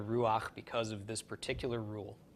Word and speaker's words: Ruach: be underneath the hay so before you think everybody's pronouncing it wrong and they should be calling it you know the Rue ha ha kodesh it is in fact the Ruach because of this particular